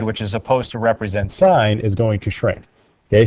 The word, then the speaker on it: sin: of theta okay so it's s-i-n but it's pronounced sine so it's just an abbreviation and it is accompanied